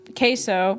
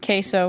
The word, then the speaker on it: queso: If you say, can I have queso? I don't know why I'm pronouncing it queso when I'm literally Hispanic. It's queso, but whatever. I'm gonna pronounce it like I'm white.